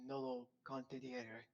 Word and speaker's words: nolo contendere: I may, I believe it's pronounced nolo contendere.